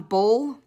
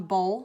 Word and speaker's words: boll: this part are cotton boll yes that's pronounced just like the football game the cotton boll spelled differently terraces textile